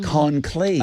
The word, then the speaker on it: conclave: I think you're putting the Conclave. emphasis on the wrong syllable. Are you sure? Yes. It's conclave? It's the conclave.